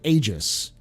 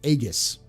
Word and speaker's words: aegis: why i always say aegis um is because in latin the a and e is an a so in latin when